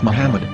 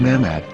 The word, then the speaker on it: Muhammad: Hebrew English dictionary AR it is correctly pronounced as Muhammad not mammad so how we're going